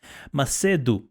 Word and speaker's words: Macedo: um went googling for a proper portuguese pronunciation it's maseido okay yeah so like the last o is like a half o or u you know so it's